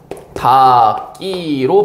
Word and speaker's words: 닭이: 그다음에 여기 봅시다 여기 닭이 같은 경우에 어떻게 바음 됩니까 다기로 발음됩니다 다기 자 그러면 이거 같은